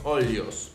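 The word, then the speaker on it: olhos: también música para os olios música para los ojos sería se escribe música para os o olos o L h o s que sería como ojos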